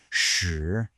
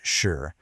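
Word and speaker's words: 十: Okay, so the entire system is built on one single crucial character, this one right here, shi. It's pronounced shi with a nice rising tone.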